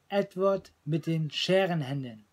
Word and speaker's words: Edward mit den Scherenhänden: You pronounce it Edward mit den Scherenhänden in German.